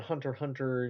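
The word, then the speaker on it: Hunter × Hunter: And so I I already did a video on Hunter Hunter Nin Impact. I learned you're not supposed to pronounce the X or cross there.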